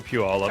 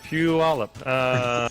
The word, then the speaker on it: Puyallup: It was in Puyallup.